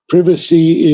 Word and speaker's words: privacy: privacies of immortal fire privacy is the British pronunciation with which SRI arabindo would have been most familiar and it means